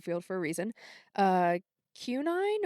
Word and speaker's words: quinine: Uh Qunine or quinine, it's qui N I N E.